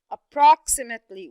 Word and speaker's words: approximately: We see that this is a very long word with different, maybe 4 syllables, okay? So let's see approximately. How many syllables are stressed? How many syllables did you hear getting higher and longer? Very good. 1 syllable, which is the second syllable right there.